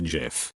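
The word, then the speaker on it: GIF: humans act in households it's pronounced Jeff I'm sorry but not it's not Jeff it's Jeff like the G in gigantic I knew my son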